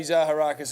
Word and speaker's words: Zaharakis: Pronounce it the way it's spelled.